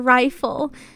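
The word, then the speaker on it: Reighfyl: i'm pretty sure we're naming her rifle pronounced like rifle and that's spelled r-e-i-g-h-f-y-l oh why would you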